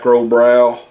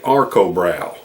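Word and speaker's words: Arcobräu: um and when I first did it I pronounced it wrong I think I was calling it brow but it's actually Arco brow a r c o b r a w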